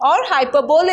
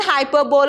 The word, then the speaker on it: hyperbole: He talks about hyperbole, or hyperbole is what we term it as. You can, either of those is a correct pronunciation, hyperbole or hyperbole, wherein he over exaggerates.